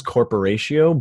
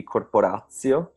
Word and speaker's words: Korporatio: The right pronunciation should be Korporatio because it's Oh, from okay. the Esperanto, but I don't think that anybody ever tried to actually speak that.